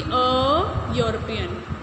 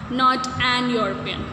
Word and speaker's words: European: So it should be a European. A European. Okay, not an European.